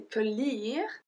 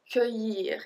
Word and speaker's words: cueillir: So all the endings that are L-L-I-R, so do you remember that we don't say cueillir, we say cueillir. It's like a long E. We don't pronounce the double L.